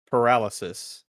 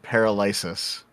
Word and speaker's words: paralysis: How would you pronounce paralysis? Paralysis. That's how I pronounce it. Oh my god. Up until maybe two or three years ago, I pronounced it paralyzis. paralyzis.